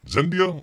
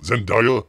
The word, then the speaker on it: Zendaya: the what's her name uh how do you pronounce it is it zendia Zendaya Zendaya out there she does a really good